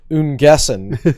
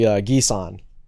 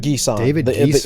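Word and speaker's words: N'Guessan: It's actually Gisan. David, first name? David Gisan. The N is silent.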